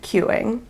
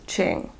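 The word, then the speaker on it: Qing: So the word is, and it is the Indie Dyer's name, it's Q-I-N-G, no letter Q, I-N-G. And it's pronounced Ching.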